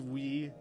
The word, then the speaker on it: oui: I don't remember the pronunciation or why the fact that OUI becomes we seems confusing as shit.